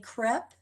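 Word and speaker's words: CACREP: we are accredited by the acronym is is pronounced crep um the council for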